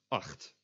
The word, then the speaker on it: acht: A CH is always pronounced as a G. Except for when it is an English loan word, like the word chillen, which comes from to chill. It's just always pronounced as a ch. For example, the word for 8 is acht.